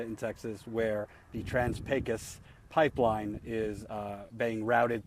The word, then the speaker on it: Pecos: just one area in Texas where the trans pacus pipeline is uh being routed through the trans pacus pipeline by the way when you read it it looks like it's trans P Picos but it's actually pronounced pus uh the trans